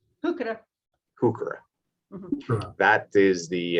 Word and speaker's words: Heuchera: And I have no idea how to pronounce the last one. It's Heuchera. Heuchera.